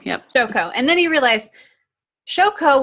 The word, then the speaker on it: Shoko: And then you realize Shoko, how do you pronounce her name? Shoko, yep. Shoko.